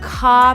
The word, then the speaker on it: Kaw: Now, really close to there is one of my favorite spots in the metro area called Kaw Point. Kaw Point. Kaw Point. How do you spell that?